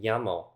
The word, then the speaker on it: llamo: And for that matter, two L's make a y sound, like in llamo.